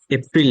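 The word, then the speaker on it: April: দেখে নিবেন লেকচারশিট দিব দেখে নিবেন 12 মাসের উচ্চারণ জানুয়ারি ফেব্রুয়ারি মার্চ এপ্রল এপ্রিল না এপ্রল May June July August September ব্রিটিশটা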